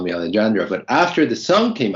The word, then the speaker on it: Alejandro: And the good thing is that before the song came out, a lot of people would pronounce my name Alejandro with a J. And so that was really common, Alejandro.